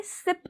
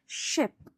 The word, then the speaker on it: ship: इसे कोई सिप नहीं बोलेगा, हम इसे बोलेंगे शिप।